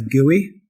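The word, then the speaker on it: GUI: word ui in it in fact we pronounce it as gooey so we're just missing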